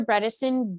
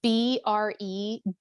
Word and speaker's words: Bredesen: Bredesen, Bredesen.